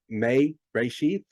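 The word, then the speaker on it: מֵרֵאשִׁית: of an E, but the E makes kind of a long A sound. I guess the best example of that would be like obey, the E in obey, or the E in eBay. That would be examples of that. But anyway, it's pronounced may, Reshith, like that.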